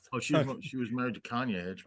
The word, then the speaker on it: Kanye: Cayenne. I never know his name. How do you say it first? Cayenne Pepper West. Cayenne Pepper West. Oh, she was married to Kanye.